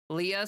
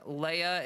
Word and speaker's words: Leah: Leah seems to be the most common pronunciation. Leia is the less common one. It's technically the original Hebrew. And yeah. So Leah is English and Leia is Hebrew.